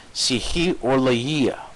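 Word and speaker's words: ψυχολογία: Psyche is the soul, and the last part, psychologia. So that's how it's pronounced. Psychologia. That's the Greek for psychology.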